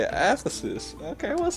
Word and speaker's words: Aphesis: Ephesus.